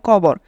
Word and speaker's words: কবর: stage performance of কবর এটা cover হবে না এটার উচ্চারণ হবে কবর রিটেন বাই প্রমিনেন্ট প্রমিনেন্ট